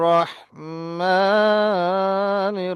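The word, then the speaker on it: رحيم: বিসমিল্লাহির রাহমান।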